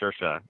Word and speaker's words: Saoirse: If you're gonna say like sure, like yes, sure, sure, and then Shah, that's like Shah, so Saoirse Ronan. That's how she said. That's how you say it.